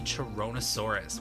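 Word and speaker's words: Charonosaurus: This Parasauromon variant was named for the Chironosaurus, which, yes, that is how it is pronounced.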